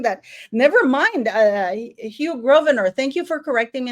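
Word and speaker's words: Grosvenor: instead of saying that never mind uh Hugh groer thank you for correcting me in the pronunciation people are still going that they think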